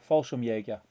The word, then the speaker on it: Fallschirmjäger: And Will Rab is telling me how to pronounce Fallschirmjäger. There you go. Fallschirmjäger.